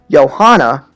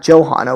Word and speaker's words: Johanna: as jose right but makoto's persona johanna is johan and not johanna why is that that's